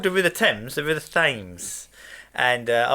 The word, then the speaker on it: Thames: Simply put, the river's name has always been pronounced Thames. Has always been pronounced Thames with a simple T sound.